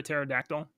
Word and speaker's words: pterodactyl: you can't hear a pterodactyl the the p is silent oh oh you you